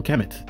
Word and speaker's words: Kemet: Kemet on my channel the term Kemet is indeed a conventional agreed upon pronunciation of the ancient Egyptian term kempt which they used to